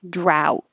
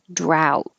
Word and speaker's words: drought: All of these extra letters, it's really the same as out. If you think out with a DR. Drought. Drought.